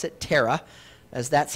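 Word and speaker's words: Terah: of a man named tarak tarak now we'll pronounce it terra as that's how it appears in our king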